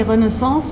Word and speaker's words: Renaissance: in the Renaissance University I say Renaissance because this is a French way of pronouncing it um and I